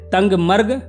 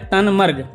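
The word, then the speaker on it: Tangmarg: देखने को मिलेंगे दोस्तों यह जो जगह है ना टंग मर्ग इसका लोग अलग-अलग उच्चारण करते हैं कुछ लोग इसे कहते हैं तंग मर्ग और कुछ कहते हैं तन मर्ग इंग्लिश में यह है टी ए एन जी एम ए आर जी तो आप अपने हिसाब से उच्चारण कर लेना अब बात कर लेते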